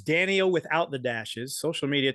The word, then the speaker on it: Dan-e-o: So it's Danny-O without the dashes.